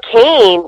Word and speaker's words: Kane: You know, Kane, his name is actually pronounced Kane. I guess his dad had Hawaiian ties, and that's how he got the name Kane, K-A-N-E.